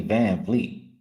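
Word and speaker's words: VanVleet: noticed his first last year but it's actually van Fleet they just say it like that van Fleet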